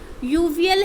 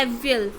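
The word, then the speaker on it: Aviyal: ठीक है, इसकी प्रोनाउंसिएशन जैसे ये केरल की कहानी है, तो ये इसकी प्रोनाउंसिएशन है यूवियल है। ठीक है, लेकिन इसमें इंग्लिश में हमने इसको क्या बोला है? एवियल।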